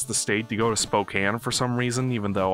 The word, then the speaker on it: Spokane: It's Spokane. It's just like how you Midwesterners insist that it's pronounced Oregon because they've, I don't know.